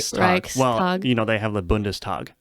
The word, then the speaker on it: Reichstag: saying it right. Yes, it is Reichstag. Reichstag. Reichstag. You do the Reichstag. It's one word. It's Reichstag, isn't it? Reichstag. Yeah, but they separate it as if it's two.